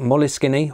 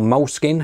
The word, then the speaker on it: Moleskine: Yes, these are old school Moleskine, or Moleskine, however you want to pronounce it, two regular notebooks, and